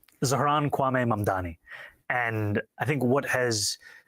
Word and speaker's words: Zohran Kwame Mamdani: This is how he does it. I'm running against a man named Zoran Mandami. He's a socialist. If you can respond to that and tell us how you say it, your full name. Zohran Kwame Mamdani.